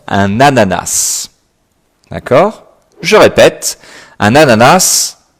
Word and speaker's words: ananas: Attention à la prononciation, un ananas.